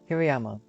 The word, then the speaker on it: Hirayama: That's how to pronounce it, I think. Let me watch a video. Hirayama. Oh. Hirayama.